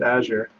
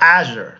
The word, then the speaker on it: Azure: so what is it you have to pronounce the emphasis on the a I guess then how do you pronounce this I pronounce it a sure it is yeah I